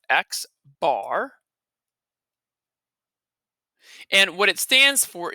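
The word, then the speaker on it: x̄: Now this X with a bar across the top, that is pronounced X bar.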